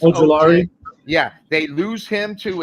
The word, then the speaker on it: Ojulari: It's Ojulari.